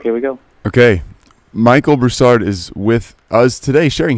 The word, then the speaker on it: Broussard: Say your name, the last name, the way you want it pronounced. Broussard.